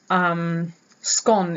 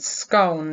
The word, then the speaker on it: scone: But then I realized you say gone, which rhymes with scone, apparently.